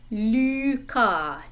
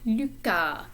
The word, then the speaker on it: Lucas: The French U is in this name. Lu, not Lou, but Lucas, Lucas. The S is silent.